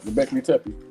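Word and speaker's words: Göbekli Tepe: I ask you to correct me on that globic goley Tey right yep goley Tey that that that was one of the originals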